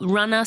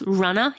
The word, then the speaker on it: Runna: That's spelled Runner, spelled RUNNA. That's Runner.